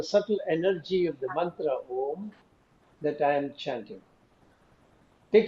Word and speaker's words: Om: Chant Om as Uma in 3 syllables.